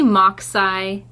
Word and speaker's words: MachSci: I say MockSci. Oh, MockSci. Like Mach 5.